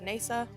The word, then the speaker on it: Neysa: My name is Neysa, or NeysaDoes. That is how it's pronounced.